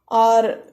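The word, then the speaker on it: ㅗ: You close your throat and open your mouth and say O.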